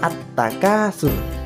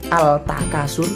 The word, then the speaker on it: at-takasur: kelihatan adalah huruf tagnya jadi bacanya at-takasur ndak boleh Al Takasur tidak boleh harus at-takasur ini ngetiknya seperti itu